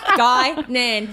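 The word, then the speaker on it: Guinan: Gynan. I got you end up getting at one point. Guillian the chocolate uh resulted in Billy writing it uh phonetically. guy Nan.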